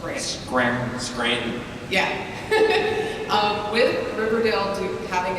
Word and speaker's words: Scranton: We don't pronounce T's, so it's Scranton.